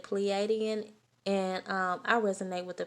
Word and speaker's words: Pleiadian: With this Star Child card here, some of you guys are oh, I immediately heard Palladian. How do you say that? Pleiadian.